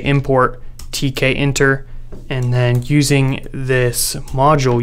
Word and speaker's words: Tkinter: to pronounce this is t k enter because the inter is short for interface so we're going to go with tk enter but feel free to